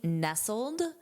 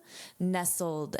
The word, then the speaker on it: nestled: First of all, notice this pronunciation of the ED. This is the past participle of the verb to nestle, but here it's to be nestled, nestled. And it functions as an